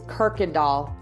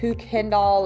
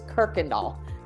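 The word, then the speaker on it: Kuykendahl: right here this is Kirkendall so one of the other YouTubers called it Kendall or something like it's Kirkendall is how you say that word just so you know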